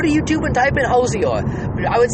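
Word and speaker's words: Hozier: He pronounces it Hosier.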